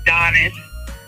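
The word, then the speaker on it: Adonis: so um you know always been a Donis um the t is silent and then obviously you saw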